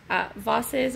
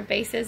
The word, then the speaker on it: vases: Vases or vases and more, not whatever I said.